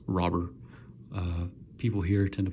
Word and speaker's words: Robert: a translator and he said in Cuba it's pronounced robber people here tend to pronounce it Robert I go more by robber and have insane